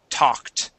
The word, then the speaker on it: talked: Okay, when a word ends with a K, okay, the ed makes a T sound. The word is talked.